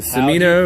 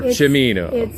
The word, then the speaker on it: Cimino: were driving up was is it samino pronounce the name or chimino is correct but it was softened by his family during that time where they felt like they wanted to blend in sure so chamina sounded